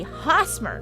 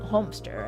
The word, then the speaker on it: Hosmer: It should be Hosmer, not Homester. I've been transposing the M and the S.